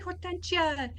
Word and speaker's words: Hortensia: That's just something like they couldn't pronounce my name, and it's actually Hortensia.